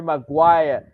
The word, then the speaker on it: Maguire: pass okay Harry Harry MaGuire Harry MaGuire okay with a salad letter G Maguire Maguire Maguire Maguire the silent G you take away the G my wire all right this game